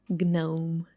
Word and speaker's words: gnome: Gnome. No. No. It should be pronounced like gnome. Gnome.